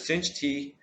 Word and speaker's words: sinh: This equals to 2 times sinh t times cos t. If you remember the double angle formula, we can rewrite this into sinh of 2t. If you recognize that I pronounced hyperbolic cosine of t and hyperbolic sine of